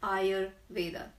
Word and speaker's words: Ayurveda: of varrock medicine and I know that many people can't even pronounce it so I'm on agenda to ask everybody to pronounce it's Eyre Vader so if the science